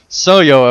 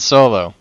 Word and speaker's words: Soyo: Oh, Your friend and loyal listener, Soyo of Landerville. P.S. It's Soyo, not Solo. Rhymes with Hoyo.